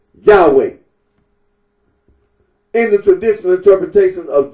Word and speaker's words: Yahweh: Current scholarly consensus generally reconstructs the name's original pronunciation as Yahweh.